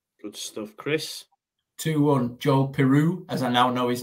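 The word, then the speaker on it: Piroe: Joel Peru, as I now know his name is pronounced.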